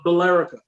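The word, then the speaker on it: Billerica: they do that yeah it's bill and erica put together his filerica but apparently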